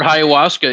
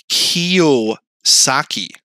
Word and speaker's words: Kiyosaki: Um, everyone on the internet, this is why Robert Hayawaska isn't in my, you know, feed like he should be. It's Robert Kiosaki.